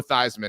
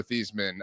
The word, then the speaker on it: Theismann: You would have been on TikTok as Joe Thyman, not Joe Thesman uh as a 12-year-old.